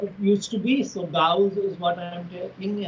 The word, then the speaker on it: Gauss: the other is s the correct pronunciation is Gauss two syllables yes okay if that's an issue that